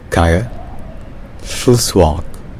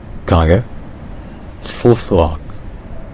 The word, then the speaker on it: Kangerlussuaq: In Greenlandic, it's pronounced Kangerlussuaq. Kangerlussuaq.